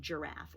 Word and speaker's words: giraffe: the the g sound i'm not talking about giraffe or giant those do sound like the letter j it's called a soft